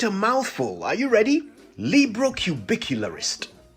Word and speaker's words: librocubicularist: mouthful are you ready librocubicularist l-i-b-r-o-c-u-b-i-c-u-l-a-r-i-s-t librocubicularist a seven-syllable word now i wonder whether